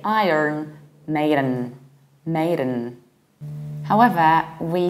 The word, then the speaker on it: Iron Maiden: However, in the American accent, it sounds a little bit different. We say Iron Maiden. Iron. So we do pronounce the R. However, we don't say Iran.